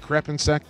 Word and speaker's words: Crepinsek: Is it Crepinsek? Oh, you're spot on.